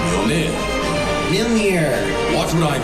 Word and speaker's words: Mjolnir: It's pronounced Mjolnir. Momnir. Mjolnir.